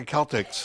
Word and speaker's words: Celtic: yeah not too salty but the Celtx I said it right you did but some people don't Tucson Celtic Festival and